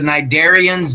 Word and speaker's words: cnidarians: jellyfish those are the cnidarians the up at the top to see is silent Hydra we had those